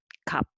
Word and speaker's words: 갚: And next one also kap, and this one is not kap, but kap.